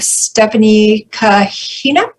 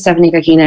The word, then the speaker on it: Stephanie Kahina: And then we have Stephanie Kahina. Yes, that's great pronunciation. Thank you. So hi, my name is Stephanie Kahina, and I'm from the Napa County Latinx Democratic Club.